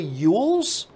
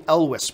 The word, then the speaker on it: Elwes: that's how you pronounce I've always said Cary eul's but apparently I was corrected it's supposed to be Elvis but anyway maybe I'm